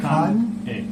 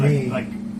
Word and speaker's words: Kanei: You have to separate the K-A-N with the E-I. Oh, okay, no N-E-I, just Yeah. Kan A. A. Alright, Kane. But again, it's hard for the native Yeah. speakers, the English speakers, to pronounce that. Yeah. So every time I introduce myself, I say I'm Kane. Like Kane is Yeah, easier yeah, than yeah. Kane. Exactly.